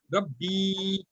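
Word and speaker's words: رَبِّي: But when you want to saying my Rabb, that ya should be stressed. So that's why it's called a hurfe madda, and we have to stress it for at least two harkat.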